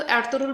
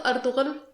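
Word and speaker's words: Ertuğrul: जुबान में जब इस लफ्ज़ को अदा किया जाता है तो एर्तुगरुल बोला जाता है, मगर जब उर्दू में इस लफ्ज़ को बोला जाएगा तो अर्तुगल या अर्तुगरल बोला जाएगा, मगर मैं यहाँ तुर्किश प्रोनाउंसिएशन इस्तेमाल कर रही हूँ।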